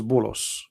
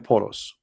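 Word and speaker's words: بولس: If you go to the interpretation, you will see that this is Bulos, which is the way of Muslims, they say and pronounce the name of Paul. In Arabic we call him Polos.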